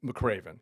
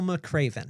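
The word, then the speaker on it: McRaven: But then what ended up happening um 30 years ago, something happened with with Adam McCraven when I was working with them when he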